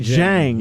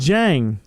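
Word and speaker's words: Dieng: They got our pick Osam Ding? Jang. It's pronounced Jang.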